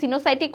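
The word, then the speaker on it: coenocytic: বানানটা হচ্ছে কো ইনোসাইটিক। আসলে বানানটা সিনোসাইটিক না। উচ্চারণ সিনোসাইটিক হলেও অনেকে সি দিয়ে লিখছে।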